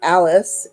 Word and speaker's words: Alse: Alse, which is pronounced Alice, A-L-S-E, Young, was from Windsor, Connecticut.